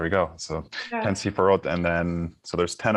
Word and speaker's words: Sephirot: Am I pronouncing that correct? Spherot in plural. Okay, there we go. So Yeah. 10 Sephirot, and then so there's 10 of them, and